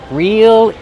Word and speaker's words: reel: Real, like if something is real, it's not fake. It's the same pronunciation. Use a long E sound. Real. Then the dark L.